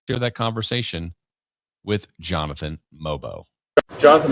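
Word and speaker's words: Mogbo: And so I had a chance to sit down with him the other day, and let's hear that conversation with Jonathan Mobo. Jonathan Mobo, correct pronunciation.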